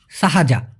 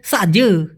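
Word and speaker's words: sahaja: উচ্চারণটা কীভাবে ভাইয়া? সাহাজা, সাহাজা। এই সাহাজা মানে হচ্ছে মাত্র, সাহাজা মানে হলো শুধু, এমনি সবগুলোর ক্ষেত্রে সাহাজা। তবে ওরা এটাকে ছোট করে বলে সাজ, সাজ।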